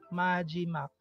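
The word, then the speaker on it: 마지막: So, ang first syllable natin is MA. Second syllable is G. Third syllable is MAK. MAJIMAK.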